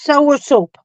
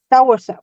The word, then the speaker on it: soursop: of course YOLO yeah you're saying it's pronounced sour soup okay so here it's sour sap soursop okay well anyways it's